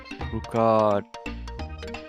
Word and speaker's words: brukade: something extra you pronounce, the word brukade, the second word, can commonly be pronounced bruka. You're skipping the last syllable.